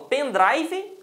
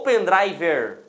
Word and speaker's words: pen drive: uma pronúncia é comigo vocês falam pen drive ou pen driver certa com certeza vocês falam pendrive certo porque pendrive porque drive